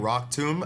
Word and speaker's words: Rock Tomb: Hey, Zona said, "When I was a kid first reading Rock tomb, I thought it was I thought Tom rhymes with bomb."